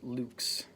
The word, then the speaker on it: lux: Moving on, light in Latin is pronounced lux.